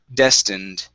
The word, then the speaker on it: destined: memories good next is destined okay this is a short i sound instead of destined destined okay very good uh